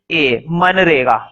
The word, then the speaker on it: MGNREGA: भी लिखना, लिखो MGNREGA, मनरेगा। देखो बोर्ड पे, मन, जी साइलेंट है, मनरेगा।